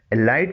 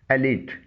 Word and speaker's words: elite: اسے ایلائٹ نہیں پڑھا جائے گا. اس کی درست پروننسیشن ہے ایلیٹ.